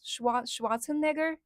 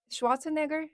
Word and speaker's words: Schwarzenegger: How do you pronounce his last name? Schwat Schwatzenegger. Schwarzenegger. Is that that the right right pronunciation? Yeah.